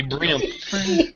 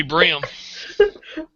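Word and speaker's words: bream: crappy or brim no this is brim b r e a m that'd be brim that'd be brim okay well then I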